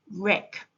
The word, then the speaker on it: wreck: W is a silent letter in the word wreck.